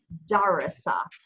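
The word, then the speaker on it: دَرَسَ: You can pronounce dal, ra, and sin as a verb, and it would be darasa, darasa. But if you put, if you want to pronounce it as a noun, you have nation on the end. It's pronounced darsun, darsun.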